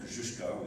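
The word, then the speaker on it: Kościuszko: Um, General Kushko is the actual pronunciation of that name.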